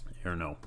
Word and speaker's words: errno: Uh and then we have to also declare extern int errno uh or error number, depending on how you want to pronounce it.